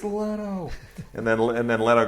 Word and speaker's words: Leto: yeah and now did you see James Franco mispronounce Jared let's name and then Jared back it's Leto and then and then Leto goes up and